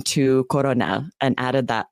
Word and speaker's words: colonel: They often will substitute L's for R's. Lots of languages do this. And so then the word came to English from French. And we didn't change it. We kept the pronunciation of the French colonel, coronel, but we kept the spelling with the L.